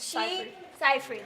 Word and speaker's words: Seyfried: Seyfried, thank you, everyone.